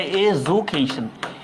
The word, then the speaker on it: education: তোমাকে যদি বলি যে দ্য ওয়ার্ড এডুকেশন ইজ, উচ্চারণটা এজুকেশন, এখানে জেড উচ্চারণ, হ্যাঁ? ফনেটিক অ্যালফাবেট তো আমি নিজেই ভুলে গেছি, যাই হোক, জ উচ্চারণ, হ্যাঁ?